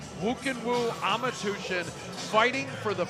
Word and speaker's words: Khuukhenkhuu: one is a tongue-twister doesn't look like woo can woo at all but that's how you pronounce it woo can woo ama tution fighting for